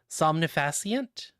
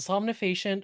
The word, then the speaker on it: somnifacient: That's a medicine grade somnifasient. Somnifascient. S O M N I F A C I N T.